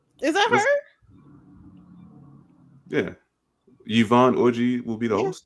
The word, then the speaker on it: Yvonne Orji: Congratulations to Yvonne Orji.